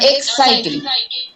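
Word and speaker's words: exciting: যেমন এক্সাইটিং, এখানে সাইড এটার উপর আমরা বেশি জোর দিচ্ছি, এই অংশটার উপর।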